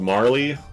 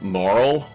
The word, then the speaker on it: Marle: true gentleman now this one I've always called Marlee and and that makes sense cuz it looks like Marley but apparently it's moral that's a dumb name